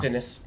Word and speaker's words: Cinnis: How do you pronounce it? Yeah. Sinnis.